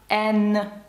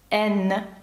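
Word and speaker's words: haine: «Сінема», чи таке слово як «ен», бачите, тут саме читається без носового, бо далі йде «е», «ен».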